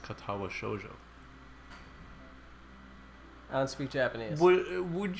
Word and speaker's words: Katawa Shoujo: playing uh katawa shoujo it is pronounced katawa shoujo a sweet japanese what